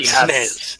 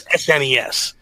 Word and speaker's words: SNES: The only time you are wrong, Donnie, in pronouncing things is when you say SNES. It's not SNES. Yes. It's SNES.